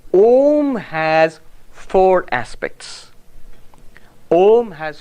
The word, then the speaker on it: Om: so it must be aom now i know more no it's wrong the rules of sanskrit grammar say when you put a and u together it becomes o o so when the